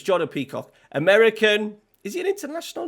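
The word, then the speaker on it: Pefok: I'm sure it's Jordan like Peacock. It's Jordan Peacock.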